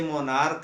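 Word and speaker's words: monarch: अगला नियम मैंने बताया था, यदि किसी नाउन के अंत में सी एच हो और उसका उच्चारण का हो, तो बहुवचन बनाते समय एक्स यस जोड़ देते हैं। जैसे मोनार्क है, मोनार्क का मोनार्क्स होता है, स्टमक है, स्टमक का स्टमक्स होता है।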